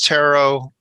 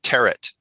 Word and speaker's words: tarot: no no no it's sometimes it's tarot it's just never tear it oh okay yeah i